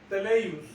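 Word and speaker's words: τέλειος: La palabra perfecto en griego es teleios. Teleios. Así. Teleios. Pero lleva un acento en la primera E.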